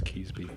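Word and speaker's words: Keansburg: That's actually how most people pronounce it from this area. Kesby? Yeah. They're fucking wrong. That's what I thought. They're wrong and they're dumb. It's Keesby.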